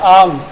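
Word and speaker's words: alms: के लाओ बिछा क्या बिछा को कहते हैं आम्स इसमें एल साइलेंट रहता है क्या साइलेंट रहता है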